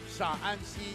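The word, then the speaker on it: Shaanxi: Pronunciation is slightly different. You got to add the extra A there, right? The one is Shanxi, and the other one is Sha'anxi.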